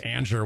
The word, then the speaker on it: Anger: last name looks like last name looks like anger we pronounced it Ander we're the weird ones